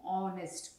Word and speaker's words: honest: Similarly இங்கே சொன்ன மாதிரி ஹெச் வந்து இந்த வேர்டுக்கு சைலண்ட். ஓகே, ஸோ இங்கே நம்ம இந்த வேர்டை எப்படி ப்ரொனவுன்ஸ் பண்ணுவோம், ஆனஸ்ட், ஓ சவுண்ட் வருது which is a vowel sound, அதனால நம்ம இங்கே ஆன் போடுறோம்.